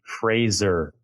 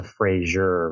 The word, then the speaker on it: Fraser: It's the Fraser Valley. It's not the Frasier Valley.